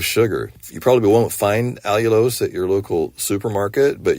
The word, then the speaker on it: allulose: you've heard of that allulose it's spelled Al u l o s e all you lose think about all you'll